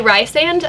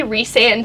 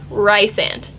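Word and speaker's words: Rhysand: and rice and and yes i say rye sand i don't i don't need your sass do not say re-sand to me that's gross like i get that sarah jeremiah says it's pronounced recent i get it let the author do what they want but to me and my brain and to my ears rice and thank you conversation done anyway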